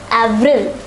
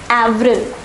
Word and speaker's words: avril: pronounced as mars once more mars april is pronounced as avril avril so let us say these four months once